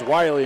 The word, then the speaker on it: Wiley: Driving all the way to the bucket is Wiley and gets the layup. They're going to pronounce it Willie, so we will too.